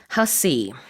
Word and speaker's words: Hussey: Alright, let's talk about the actress Olivia Hussey. In Olivia Korea, we say Hasse, but it's a different pronunciation.